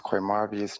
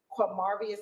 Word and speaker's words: Quamarvious: do it again all right slow down name spell it for this young lady right here okay my name is qu marvus first name QA m a r v